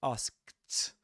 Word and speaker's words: asked: You don't say asked, but asked. You don't pronounce the k.